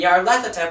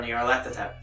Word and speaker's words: Nyarlathotep: And Nyarlathotep, which some people might dispute this pronunciation.